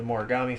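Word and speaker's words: Mogami: One Punch Man, it's the Boros fight and the Genos fight, and Mob Psycho 100, it's the Morigami fight.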